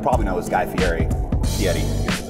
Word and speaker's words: Fieri: Fieri, is how you say it.